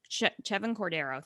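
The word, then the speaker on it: Chevan Cordeiro: But the only thing that kind of caught my attention was the fact that Hawaii quarterback, and help me with pronunciation here, Chevin Cordero. Chevin Cordero, thank you, is both the team's leading passer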